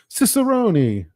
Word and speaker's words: Cicerone: Cicerone.